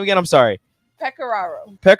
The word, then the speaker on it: Pecoraro: do you say last name again i'm sorry peccararo like the players uh say coach peck